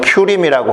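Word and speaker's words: Purim: 이렇게 부림절이라고 부르는 영업 발음으로는 퓨림이라고 하고 뜻은 제비라는 뜻이라고 말씀드렸습니다.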